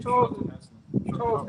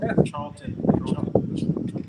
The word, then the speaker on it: Charlton Heston: Charles Heston. Charlton.